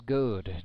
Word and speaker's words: Goad: Marquise Goad steps in for the Mountain Ducks, having his last name mispronounced by our PA announcer. It is Goad, G-O-A-D.